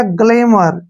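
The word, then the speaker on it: glamour: आर ठीक है ना एम का उच्चारण मैं होगा और ओ यू का उच्चारण इसके यहां पर ए के रूप में करेंगे ठीक है और आर से क्या होगा र तो ये बन गया गलेमर क्या बन गया गलेमर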